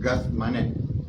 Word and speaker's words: Getsemaní: En arameo la palabra se pronuncia Getsemaní, ¿sí?, o sea, Getsemaní.